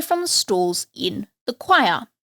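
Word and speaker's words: quire: the Stalls in the choir spelled with a q but pronounced the same this daily singing is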